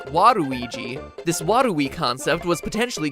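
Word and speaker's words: ワルイージ: Waluigi's name works even better in Japan, where his name is pronounced Waruigi.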